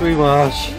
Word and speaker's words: Wee Marsh: Ladies and gentlemen, my name is Wee Marsh, and that is how it's pronounced.